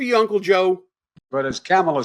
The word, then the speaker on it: Kamala: It is pronounced comma, not semicolon, comma, like the punctuation mark, a la Harris.